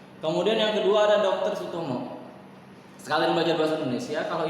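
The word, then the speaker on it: Soetomo: Kenapa Suetomo? Karena Sutomo dibacanya Sutomo, ya. Ini ejaan zaman dulu, Suetomo.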